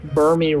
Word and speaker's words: Burmy: Burmy rhymes with wormy.